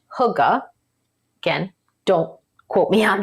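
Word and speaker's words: hygge: y g g e I believe it's pronounced Huga again don't quote me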